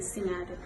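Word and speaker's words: Sinhateh: It is spelled as SINDHATEH Singate.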